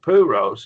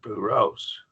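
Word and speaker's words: πυρός: nuktos it's new toast not pure Rose it's puros all right any questions or comments the accent goes on that last syllable that's the rule and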